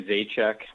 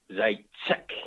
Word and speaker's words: Zajicek: I say Zajicek. My dad, he's Czechoslovakian, so he's big on the proper pronunciation, and it's Zajicek, and he almost kind of spits when he says that.